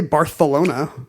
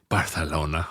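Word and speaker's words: Barcelona: start doing that immediately we already say barcalona oh some of us with the Theta I guess I do sometimes barcalona I do it as a bit barcalona but these you know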